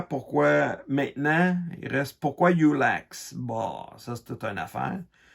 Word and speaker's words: Yullax: je pense qu'il l' je voulais que le mot se prononce aussi bien en français qu'en anglais puis que ça sonne à peu près pareil et puis si ben moi je le prononce Youx en français ou en